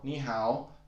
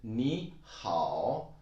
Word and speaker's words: 你好: incorrectly and say 你好, 你好. Now you know how to pronounce it. 你好, 你好. Actually, 你 is a third tone and 好 is also a third tone. So 你好.